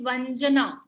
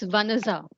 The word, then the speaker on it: Vanaja: Ma'am, my name is Vanaza. Vanaza. Oh my God. Yeah, so the Name. J is pronounced as Z.